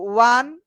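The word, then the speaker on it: one: ওকে, দেখো ওয়ান, uniform, uniform, দেখো ওয়া, দেখো প্রোনাউন্সিয়েশনটা কিভাবে করতেছি আমরা, ওয়া, ওয়ান, ওয়ান, খেয়াল করো ওয়ার মতো উচ্চারণ হইতেছে না?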